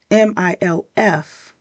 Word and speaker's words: MILF: However, unlike the acronym MILF, it's an acronym that rhymes with milk. It sounds like you're saying milk. You're pouring some milk in cereal, but take the K off the end and put an F.